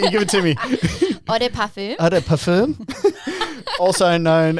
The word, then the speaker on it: Eau de Parfum: Eau de Perfume.